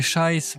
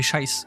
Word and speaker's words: Scheiße: Je le prononce pas à l'allemande, hein. Je le prononce à la mosellan alsacien.